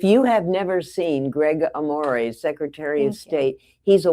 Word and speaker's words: Amore: It's Amore, by the way. Like, Amore. It is. Amore. Thank you. Spelled like Amore, but it's Amore. Amore.